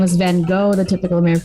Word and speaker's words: Van Gogh: Yeah, the Dutch pronounce it with a guttural sound.